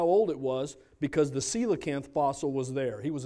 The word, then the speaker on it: coelacanth: don't remember the coelacanth it looks like Cola can't but it's pronounced coelacanth maybe you don't remember